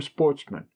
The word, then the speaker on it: sportsmen: were of good family, who were sportsmen, a French word pronounced with the accent on the men.